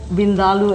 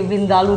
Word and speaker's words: vindaloo: to an Indian restaurant, Colette, say Vindaloo, they'll treat you so much nicer. Vindaloo. Yeah. Okay. Because, I mean, most people say Vindaloo, but that's not really the correct way.